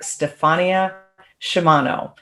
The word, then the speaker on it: Stephania Sciama: i am here with my beautiful guest dr stefania shimano did i do okay there is that the correct way to pronounce it that's right dr stefania why don't